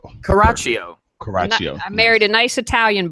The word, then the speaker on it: Coraccio: Now, how do we pronounce your last name? It's Caraccio. Caraccio. Caraccio. Caraccio.